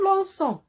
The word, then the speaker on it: lançons: nous on doit automatiquement ajouter une cédille au C pour ne pas le prononcer que et dire nous l'encrons et ça sera faux bien sûr nous lançons on passe à vous